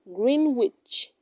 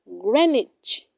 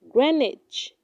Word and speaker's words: Greenwich: do not say valet it is pronounced valet valet she is a valet at the hotel eight do not say green witch it is pronounced greenwich greenwich the greenwich is also